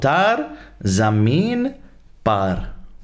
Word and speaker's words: Taare Zameen Par: This is called Tar Zameen Par. I'm pretty sure that's the pronunciation.